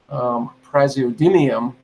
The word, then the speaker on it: Praseodymium: Because I want to see how much Praseodymium there actually is. Now, Carl Sagan, by the way, pronounced it dymium. He pronounced it. He pronounced it like a physicist would pronounce it.